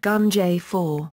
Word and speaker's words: Ganjifa: This was called Ganjirfa, pronounced Gunjay-4.